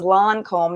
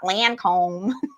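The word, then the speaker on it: Lancôme: Lancome. You hear that? My Lancome. That was before Tabitha told me it was Lancome, not Lancome. My Lancome. Like, plug my nose.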